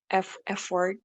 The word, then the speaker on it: effort: Usually they say the word effort, but in Indonesian, Indonesians say it like effort, effort. So like the R is a lot clearer.